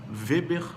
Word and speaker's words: Weber: Weber Martins Batista repete repito com W Weber como se escreve como se ouve Weber Martins Batista no